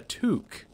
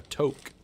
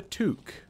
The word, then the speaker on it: toque: this is pronounced a toque I've been calling that the wrong thing this whole time called it like a toke but apparently it's a toque like peregrine took from Lord of the Rings he is a fool